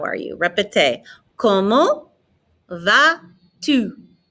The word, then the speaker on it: Comment vas-tu: Comment vas-tu? Notice I'm not pronouncing the T on the end of comment. I'm not pronouncing the S on the end of va. Répétez. Comment vas-tu?